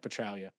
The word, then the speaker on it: Petraglia: space next year petraglia petraglia petralia um thank you yes I know it is a silent G it's like I know